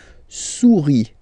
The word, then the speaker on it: souris: Here, the next one, final S, not pronounced, o, u, when you combine these two vowels, then you get the sound ou, okay? Souris. Une souris, une souris, all right?